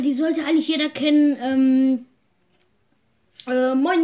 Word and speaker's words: moin: manchmal sagen oder meinte man muss halt auf die aussprache auf was nicht dass man meint sagt mainz heißt nämlich dass sie